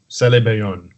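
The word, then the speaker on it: Sélébéyone: Celebayon. Yeah. Celebayon. That's a word in Wolof that's kind of written out in French, and I don't know. Yeah, it means the term Celebayon means intersection in Wolof,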